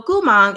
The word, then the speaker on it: Gumang: Gu is going to be the same as Mo, as Gu. Gu, if I slow it down. And then Mang is actually going to go up. So Mang, Gumang. Bada bing.